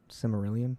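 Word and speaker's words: Silmarillion: know someone pull out the samelan can I pronounce that right simarillion is that right yeah yeah yeah ruo is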